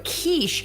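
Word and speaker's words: quiche: I pronounced it wrong at first. I thought it wasQiche, but then I had to look up how how it was pronounced in lots of languages. And um so it's kiche is what I've heard.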